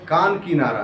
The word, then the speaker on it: कांकीनारा: सुनेंगे, कांकीनारा है, हाँ, तो किताब में आपका असल प्रोनाउंसिएशन कान की नारा है, आप उसका भ्रंश कर दिए काकीनारा। काकीनाडा तो साउथ में है। नहीं, ठीक है, नहीं, यहाँ भी पश्चिम बंगाल में भी है, लेकिन उसका असल प्रोनाउंसिएशन कान किनारा है, जिसको आप शॉर्ट फॉर्म में काकीनाडा बोल देते हैं।